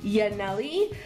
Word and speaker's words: Yaneli: i'm not sure but her name i believe is it's pronounced yaneli um she's from burbank